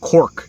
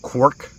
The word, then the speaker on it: Quirk: mean I'm sorry um some people call my last name cork instead of quk sometimes they say cork